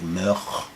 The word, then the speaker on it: Moog: Bob Moog says the correct pronunciation for the old Dutch is actually Moog. Moog.